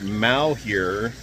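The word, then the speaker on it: Malheur: do you pronounce it Mal here um wildlife area which is just to our South it comes from the French word mure or bad luck so here's some highlights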